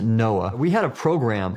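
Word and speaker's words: NOAA: I was with the National Oceanic and Atmospheric Administration we pronounced it Noah we had a program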